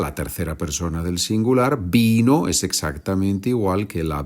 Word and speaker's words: vino: Vine, viniste, vino, vinimos, vinisteis, vinieron. La V se pronuncia como B en español. Y es verdad, la tercera persona del singular, vino, es exactamente igual que la bebida.